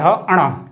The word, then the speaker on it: ण: इनका उच्चारण स्थान जो सही उच्चारण है क ख ग घ अंगा, च छ ज झ इया, तो इसे हम बोलते हैं इया। मैं लिख रहा हूं यहां पे इया। और ट ठ ड ढ अणा, इसे बोलते हैं हम अणा। तो इनमें भी काफी कंफ्यूजन रहता है, तो इनका उच्चारण स्थान अलग अलग है। इसे अंगा बोलते हैं, इसे इया और इसे अणा।